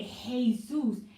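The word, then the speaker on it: Jesús: and i found it funny because jesus when they say hey zeus hey when you look at hey h-a-y like you know i'm saying it like that because they spell it j but they pronouncing it like hey hey it's like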